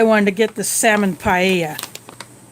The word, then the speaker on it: paella: to get the salmon paella in spanish the double l is pronounced like almost like a y well this does not